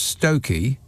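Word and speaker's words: Stiffkey: of stiff key pronounce stoky so there's two Fs in there and you don't pronounce either of them for crying out loud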